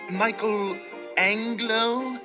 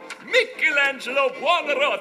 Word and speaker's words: Michelangelo: You must be Michael Anglo. Am I pronouncing that correctly? Michelangelo.